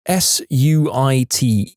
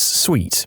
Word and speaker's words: suite: somehow I haven't been clear that it's sweet s UI t e she responds with this incredulous yet delighted